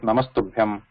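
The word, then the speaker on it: नमस्तुभ्यम्: But if you are pronouncing like together, then you can pronounce it like Namastubhyam.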